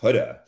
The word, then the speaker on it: Huda: Um, I think her name is is Huda. And if I'm pronouncing it right or not, I'm not sure. Huda. Because she said it was like shoulda would have hooda.